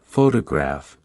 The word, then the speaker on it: photograph: For example, in the word photograph, the stress is on the first syllable, while in photographic, the stress shifts to the third syllable.